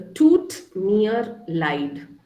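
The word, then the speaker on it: Tut mir leid: can you repeat it it's a toot near light e i is i so just go by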